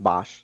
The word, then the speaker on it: Boesch: His name is pronounced Boesch.